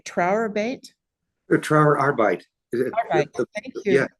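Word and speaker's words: Arbeit: is uh and forgive me if I don't pronounce it correctly trate TR arbite AR thank yeah arbite the word German word for for work and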